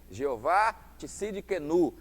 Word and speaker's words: Jeová Tsidkenu: O Senhor é a nossa justiça, o Senhor justiça minha, Jeová Tsidkenu, assim que se pronuncia, né?